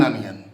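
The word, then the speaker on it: onion: ये उसका प्रोनाउंसिएशन क्या है, ये भी ओ से चालू हो लेकिन आ, एन, एन अनियन।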